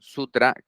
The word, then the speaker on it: sutra: sabiduría Hoy quería traerles un sutra eh o suta Según como lo quieran pronunciar de el budismo terab